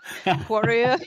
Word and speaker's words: Quareia: Quareia?